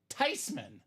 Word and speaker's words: Theismann: It's actually pronounced Theismann. Everyone's been saying it wrong the whole time, Dom. So whether you want to call him Theismann, or Theismann, a few facts you cannot take away from this guy.